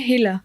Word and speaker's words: Hilla: अच्छा, तो इसकी प्रोनाउंसिएशन है हिला।